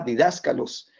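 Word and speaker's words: διδάσκαλος: El acento en la A, didáscalos, que se usa de una manera común también.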